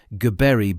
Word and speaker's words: Gibril: Gibril Bana, pronounced Gibreel Bana, the West Side Boys headquarters.